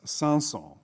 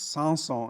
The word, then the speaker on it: Samson: mention by the way the composer's name is pronounced sansol and if you say the character's name in french it's sanson so you'll have to listen carefully if people are talking about these french words it's sanson and dalila samson and delilah and samson is